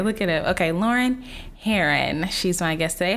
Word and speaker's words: Herron: Herron. Heron. I want to say it's like a bird.